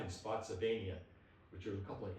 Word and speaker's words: Spotsylvania: Was that Spotsville? Spotsylvania.